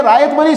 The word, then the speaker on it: ryot: किया जाता है, उसको रायत ही बोलते हैं। क्या बोलते हैं? तो इस वजह से ये रायतवरी सिस्टम जो था, इसकी प्रोनाउंसिएशन आप रायत पढ़िए, RYOT, रायोत नहीं पढ़ेंगे आप, ये रायतवरी सिस्टम है।